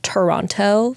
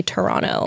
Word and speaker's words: Toronto: I learned that that's how you actually pronounce Toronto. That's how like the locals say it.